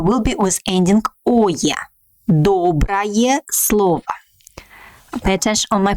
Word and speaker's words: доброе: Доброе слово. Pay attention on my pronunciation. We write «ое», but pronounce «ая», like доброе слово, because this ending is unstressed.